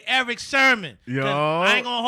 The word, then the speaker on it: Sermon: No, I said Sherman. He said, nigga, it's Sermon.